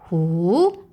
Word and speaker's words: 虎: And the second one is who, the tiger. It is in falling and a rising tone.